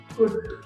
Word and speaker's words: could: नहीं किया जाता है, ल वहां पे साइलेंट होता है, तो फिर वुल्ड शुड कुड ऐसे नहीं कहना चाहिए, क्या करना चाहिए, कुड शुड वुड, इस तरह से कहना चाहिए।